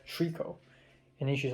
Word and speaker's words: tricot: of stuff I listen to, and I said Tricot. And then she's like, what? How do you spell it? And I said Tricot, and they're like, oh, Toriko.